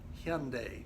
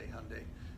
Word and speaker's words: Hyundai: our country now the name is actually pronounced hem day but to make it easier on us and everyone else then we just say Hyundai now they have a